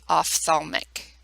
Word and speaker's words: ophthalmic: first one being the off thalmic and that is pronounced off like pH sounds like an F ophthalmic serves the eyes nose